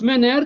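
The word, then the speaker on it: Menger: c'était l'Autrichien Carl MERER ça s'écrit menganger mer MERER avec G comme golf mais ça se prononce mener Carl MERER MERER de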